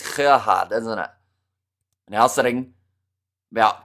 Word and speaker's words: Gerhard: See, I've been corrected about how to say his first name because I used to say Gerhard, but that's wrong. It is Gerhard, isn't it?